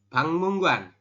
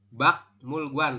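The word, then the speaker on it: 박물관: ada RI di akhir Oke ini R di akhir ketemu dengan giok di atas Berarti r jadi Eng makanya kita membacanya adalah bangmunggan bukan bak mulgan tapi bangmunggan seperti itu silakan bisa dipahami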